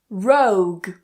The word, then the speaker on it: rogue: So even with that gue combination towards the end of the word, it is still a silent u. Vague. Rogue.